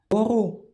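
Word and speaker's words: μπορώ: Ça se prononce en général B ou des fois dans certains cas MB. Et exemple, boro, pouvoir.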